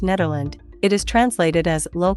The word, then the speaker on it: Nederland: The official Dutch name of the Netherlands is pronounced Nederland.